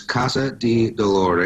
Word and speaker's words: Casa di Dolore: is a little different it's in Italian it's Casa de dólar a CA sa di DOL o re and it means House